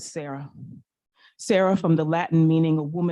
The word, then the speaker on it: Sarah: Say it. Era. Rhymes with Sarah.